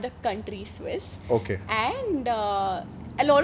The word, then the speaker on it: Swisse: i SS e Swiss it's not the country Swiss okay and uh a lot of people actually get confused they call it Swiss a swissy yeah exactly so okay please pronounce the brand